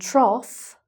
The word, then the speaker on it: trough: So: "cough" and "trough", that's like the "off", "off" sound. So, "cough", "cough", and a "trough" is something that a pig eats out of...